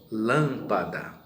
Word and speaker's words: lâmpada: nós temos aí exemplos lâmpada então a sílaba mais forte é o lan acentuado proparoxítona côncavo levado pássaro